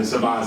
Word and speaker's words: Saban: Well, Saban. It's pronounced differently though between Saban and Saban.